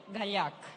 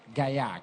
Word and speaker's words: Gallach: well you want to pronounce it my way that's what I wanna do Gallach Gallach but it's quite tough so you do as